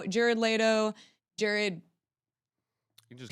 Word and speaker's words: Leto: and I know he was calling him Jared Lo um Jared Leto from okay Jared all right